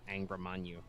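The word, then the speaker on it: Angra Mainyu: weird syllables when you can just fucking say Angrimanyu. Yeah, That's no, how it's but pronounced, guys.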